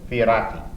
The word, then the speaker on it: Fioratti: New York City, Helen Fioratti. How do you do? Is that pronunciation okay? Yes, it's perfect. With the Italian rolling of the R, and Madelon Talley.